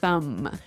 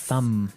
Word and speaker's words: thumb: Do you say the B at the end of this word? No, I actually only pronounce the M, the Yes. thumb.